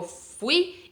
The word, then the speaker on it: fui: no fui y vale yo fui en español la parte fuerte es final yo fui y él fue si entonces no pronunciamos como en portugués decimos fui yo fui